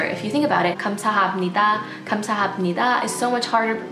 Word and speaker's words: 감사합니다: It's just a really hard sound to pronounce because it's a glottal sound, so it tends to be weakened in words like 감사합니다.